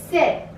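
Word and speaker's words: sept: Here P is silent. 7, 8, 8.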